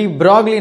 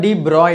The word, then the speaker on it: de Broglie: டிப்ரோக்லி wavelength, ஆக்சுவலாக டிப்ரோக்லி நம்ம டிப்ரோய் அப்படின்னு நம்ம சொல்லியிருப்பாங்க, நம்ம புக்லேயே சொல்லியிருப்பாங்க, இப்படி தான் யூ ஹேவ் டு ப்ரொனவுன்ஸ் அப்படின்ற மாதிரி.